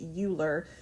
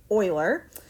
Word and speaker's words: Euler: that that name looks like it should be pronounced Euler but it is pronounced Euler a route around a graph that visits every